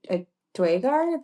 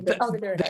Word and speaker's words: Duergar: A dragar? The Underdark? Duergar? Yeah, which I know Yeah, the Duergar, yeah.